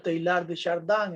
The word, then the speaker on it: Teilhard de Chardin: Se pronuncia Teilhard de Chardin en francés.